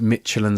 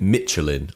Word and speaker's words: Michelin: I think I threw in the kind of the CH being a shirt, but I definitely kept 3 syllables in there. Yeah, that's true.